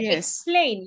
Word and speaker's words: explain: So the e sounds a or e e. The e should sound a because we are not stressing it.